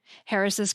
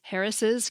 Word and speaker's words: Harris': apostrophe at the end: Harris' campaign (written H-A-R-R-I-S-apostrophe). Yes, even though you pronounce it as though there are two S's (Harris' campaign), there is no final S on the end if you're following AP style.